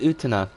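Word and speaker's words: Utena: I always pronounce it Utana. Kind of like antenna, but with an U.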